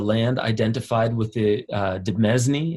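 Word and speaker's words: demesne: identified with the uh de mesni is that how you say it yeah it's pronounced domain but the is the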